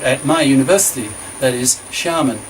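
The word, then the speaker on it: Xiamen: my university that is Sharman pronounced Shyama and university x i'm davina xin chinese is a ship sound as in she that he's chairman pronounce she Armen University in the south of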